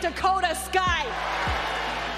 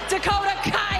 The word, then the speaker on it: Dakota Kai: Realize the benefits of bringing someone in like Dakota Sky. Dakota Kai, I know I said it wrong, you dummies.